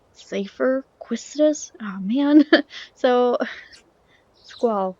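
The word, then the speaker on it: Seifer: I knew it would either be you or Safer. Some people pronounce it Cypher.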